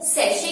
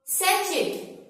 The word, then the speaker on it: sachet: सैचेट। क्योंकि वो सी को च की साउंड दे देते हैं, मोस्टली लोग बोल देते हैं सैचेट। सैचेट इज नॉट a right pronunciation, it's totally wrong.